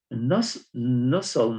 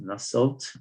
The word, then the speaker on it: Nusselt: So Nussel number, that's how it's pronounced, Nusselt or Nussel, okay? T, in America, the T is always, they just, they don't pronounce it. So Nussel, like often, they say often. They don't pronounce T. But British, they say often, okay?